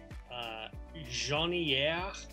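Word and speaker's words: Jasnières: So this is a bit of a tongue twister, but it's Jaunière from Janvier. That's how it's pronounced.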